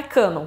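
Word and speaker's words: κανών: falar de escrituras religiosas a palavra em si vem do grego é isso o que está escrito na tela que eu não sei pronunciar mais que diz que a pronúncia mesmo é cânon e ela falava que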